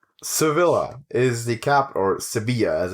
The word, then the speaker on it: Sevilla: Sevilla is the capital, or Sevilla as it's pronounced, is the capital of which region of Spain?